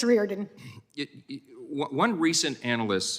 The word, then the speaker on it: Reardon: What's the right pronunciation? Thank you. It's Reardon.